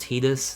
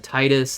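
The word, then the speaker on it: Tidus: is awesome uh and I know technically it's pronounced tetus that's how they pronounce it but I refuse to acknowledge that uh Titus like the hides of water he deals so much with water I just think Titus sounds so much better um at the beginning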